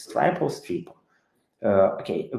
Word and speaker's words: Stripo: of our service it's strip or ster uh okay people usually say sto but right way is a stripo so yes it's right